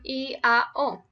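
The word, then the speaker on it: IAO: So this is going to be pronounced I-A-O because it's Latin, so you shouldn't pronounce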